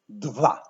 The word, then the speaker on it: dwa: into two, in English two, and in Polish dwa. So as we see, dwa and English two have a common ancestor. So let's pronounce this word in Polish.